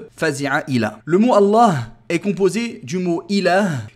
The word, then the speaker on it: Allah: que dans la prononciation, le lem du mot Allah est mufakhama, est grave. Et c'est le seul mot de la langue arabe où le lem est grave à la prononciation, est emphatique.